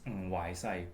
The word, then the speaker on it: Wai Sai: My complete name is actually Woo Hwese in Korean. Woo Hwese. That's what I was told, and but my Cantonese name actually is Wai Sai, so it's completely different. But it's the Korean pronunciation is much closer to the Mandarin pronunciation.